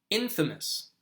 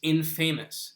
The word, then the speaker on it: infamous: Infamous.